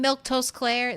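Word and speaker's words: Milquetoast Claire: Uh, remember I'm Milktoast Claire. That's how you say my name.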